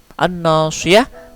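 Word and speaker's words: الناصية: An-nasiyah, an-nasiyah adalah alif lam syamsiyah. Alif lamnya tidak dibaca.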